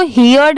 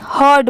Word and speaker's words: heard: क्या है ओवरहर्ड, इसको हियर्ड नहीं पढ़ेंगे, ओवर OVER, इसको ओवर पढ़ते हैं, और HEARD को हियर्ड नहीं हर्ड पढ़ते हैं।